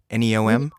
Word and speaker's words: NEOM: cuts to public subsidies and also is it pronounced neom neom yes a 500 billion dollar high-tech city on